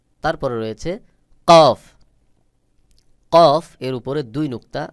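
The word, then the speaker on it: كاف: যেমন কাফ উচ্চারণের ক্ষেত্রে হালকা বাহিরের দিকে বাতাস বের হবে, আর কাফকে পাতলা করে উচ্চারণ করতে হবে স্বাভাবিকভাবে। যেমন কাফ, কাফ, কাফ।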